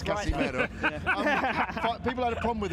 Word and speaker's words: Casimero: But I was saying it for a reason, in that 5 years ago when you fought Casimero, people have a problem with me pronouncing it right, but it's Casimero.